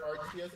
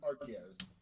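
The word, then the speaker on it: Arceus: I hear Arius and Archus and I pronounce it as Arus.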